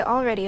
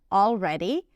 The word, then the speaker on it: already: By the way, she pronounces it with the L, already, but know that you can drop the L. It's also okay.